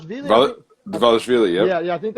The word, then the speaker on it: Dvalishvili: Oh goddamn, Dvalishvili, I think. Dvalishvili, yep. Yeah, I think it's kind of pronounced like a W, Dwalish kind of.